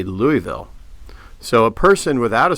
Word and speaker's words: Louisville: witness that same phenomenon uh when people say Louisville so a person without a southern accent will